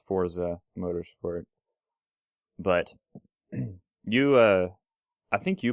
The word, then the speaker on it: Forza: Forza Motorsport 5, and I refuse to call it Forza. I don't know. That's how you pronounce it. I don't care so if that's how everybody pronounces it. There's no T in it.